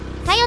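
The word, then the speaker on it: 小夜: 小さい夜と書いてさよと読みますが、木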